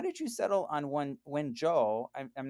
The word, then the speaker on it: Wenzhou: Yeah, I think your pronunciation is great. So it's Wenzhou.